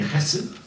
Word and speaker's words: Chesed: And one day, her coach said to her, Chesed, a fine Jewish name that means grace, and that if I pronounce it properly, it would be Chesed.